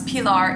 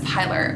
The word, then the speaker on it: Pilar: pronouncing it Eva, and I don't think it would be a stretch for someone to pronounce Pilar in the US as Pilar, which would be very similar to Skylar.